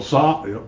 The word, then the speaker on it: Tzav: It's a VAH at the end. Tzva. No. That's why it's Tzva. It's not one syllable.